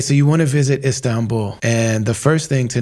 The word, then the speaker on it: Istanbul: city the right way a lot of people come here and they say instan buul it's istan bu is it sounds simple